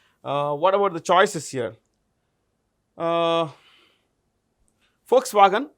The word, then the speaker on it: Volkswagen: V is pronounced with an F, so it's Volkswagen, people's car.